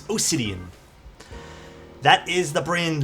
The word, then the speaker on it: Osidian: And no, it's not Obsidian with a B, it's Osidian.